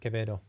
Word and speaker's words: Quevedo: It's actually Quevedo. Thank you. That's actually very helpful. So not Quevedo, but Quevedo. So just a very actually simple pronunciation, I guess. So it's a soft K, Quevedo.